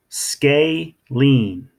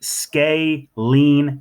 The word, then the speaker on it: scalene: triangle CD are called scalene triangles none of their side lengths are the same okay scalene sort of like scales right scalene triangles say it with me scalene triangles now for these